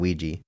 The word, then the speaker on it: Ouija: ends with an a what do you mean Ouija it's not an it's not an English word o u i j a that's pronounced Ouija Ouija those are Ouija boards I'm